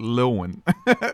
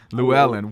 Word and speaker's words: Llewellyn: I've always called it Llewellyn for years. I've been reading their books since like I was like 13 years old. Llewellyn. Wow, the correct pronunciation.